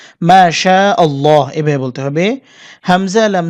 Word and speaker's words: মাশাআল্লাহ: তাড়াতাড়ি বলেন সেক্ষেত্রে অন্তত এক আলিফ কিন্তু টানতেই হবে যদি মাশাল্লাহ বলেন মাশাল্লাহ তাহলে কিন্তু সম্পূর্ণ ভুল একটা শব্দ আপনি বলেন মাশাল্লাহ না মাশাআল্লাহ এভাবে বলতে হবে হামজা